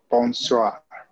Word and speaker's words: bonsoir: Bonsoir. The R is pronounced.